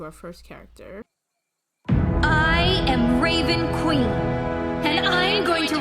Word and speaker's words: Raven Queen: have to say this raven queen rhymes with jason dean so every time i